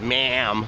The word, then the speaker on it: ma'am: it's just the dialect they're actually saying hello ma'am but they don't say this ma'am like we do they say this mom so it's kind of like a softer a so